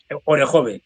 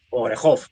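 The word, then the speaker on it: Orikhiv: más hacia el oeste orejve orejov depende como lo pronuncien.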